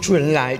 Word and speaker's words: Zhou Enlai: Perché poi da noi non si dice, come l'ho detto io, ma si dice Zhou Enlai, Zhou.